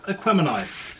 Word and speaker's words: Aquemini: And I can say it properly this time instead of when I first got it, and that's Aquemini, which comes with 3 very limited edition discs, which is, like, off memory, a yellow, green and blue.